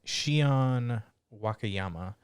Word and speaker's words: Shion Wakayama: so have we what's her name can you pronounce her name just uh it is shion wakayama she is done wow destiny and tacto p